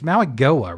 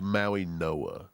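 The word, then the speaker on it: Mauigoa: when you've got the UIG, that's pronounced as an N, so it's Maui Noah. The G silent, and it becomes an N.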